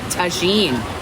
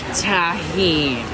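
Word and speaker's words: Tajín: taking seasoning that i always want to call tagine tagine pronounced tahini tahin i got it and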